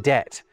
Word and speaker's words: debt: in receipt and B in debt were never pronounced? Because they weren't. This is how the word debt was spelled when we borrowed it from French around 700 years ago. In fact, it's still spelled like that in French. And look, no B.